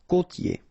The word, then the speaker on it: côtier: I-E-R here. Ye. Côtier.